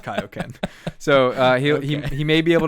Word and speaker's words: Kaioken: let me just say it's actually pronounced Kaioken, and I don't know what happened to the drawing room there, but it's pronounced Kaioken.